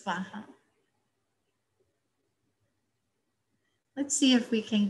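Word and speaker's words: svāhā: so the last syllable sometimes tibetans pronounce soha and sanskrit it's vaha let's see if we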